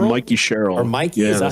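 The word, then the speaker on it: Mikie Sherrill: Here we have the gal that is now, I guess, going to be the governor of New Jersey, Mickey Sherrill? Yeah, Mikey Sherrill.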